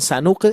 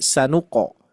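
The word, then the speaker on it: سنقرئك: Jadi bukan sanuk tapi sanuqo sanuqo.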